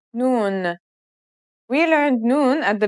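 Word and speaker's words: ن: right it means I the N sounds just like the English n let's remember how to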